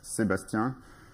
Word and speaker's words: Sébastien: So if you want to pronounce my first name in my original language, in French, that's Sébastien. But if you pronounce it Japanese way, it's fine as well.